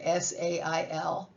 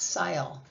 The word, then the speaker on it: sail: So the first one is A and she says A. And the second vowel shuts up. So that says sail, not sile.